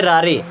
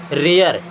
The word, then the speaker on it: rare: अगर 12 खड़ी में देखेंगे ना तो इसे पढ़ेंगे रारे, क्या पढ़ेंगे, रारे। बट एक्चुअल में है क्या ये, रेयर, क्या है, रेयर।